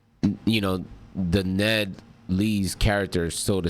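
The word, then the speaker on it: Ned Leeds: Ned Lees.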